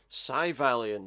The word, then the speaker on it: Syvalion: today we are playing civilian at least psy valiant that's how you say it because he just said it there uh yeah this is